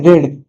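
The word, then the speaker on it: read: लेकिन उसे पढ़ा जाता है रीड।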